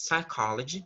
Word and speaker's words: psychology: The P sound isn't pronunciated here. So the pronunciation of this word is psychology, okay?